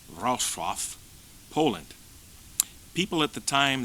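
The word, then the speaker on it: Wrocław: in Breslau Silesia Germany now Rau pronounced rof Poland people at the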